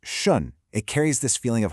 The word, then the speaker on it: 顺: So this first character is pronounced shun.